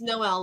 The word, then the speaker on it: Noel: It's Noel. Mm-hmm. She said it. I mean, he said it right. He said it completely right. It's Noel. Yes. Said completely right. I did Noel with not the say L her and the E.